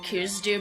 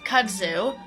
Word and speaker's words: kudzu: like for example Kudzu which I recently learned I have been pronouncing incorrectly um I think I called it cues do before but Kudzu um that is what